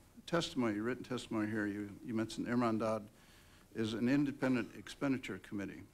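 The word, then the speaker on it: Hermandad: On the pronunciation. Irmandad.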